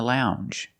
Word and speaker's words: lounge: regular n n plus the J sound Lounge lounge and another one when you